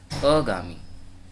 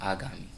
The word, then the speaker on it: आगामी: जैसे यहाँ पे दिया है अगामी, ये गलत है, ये अशुद्ध है। इसका शुद्ध उच्चारण क्या होता है, आगामी।